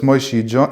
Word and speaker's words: Moshe Jung: spelled with the J, it's pronounced with the Y. So it's Moshe Jung at Moshe Ever Jung.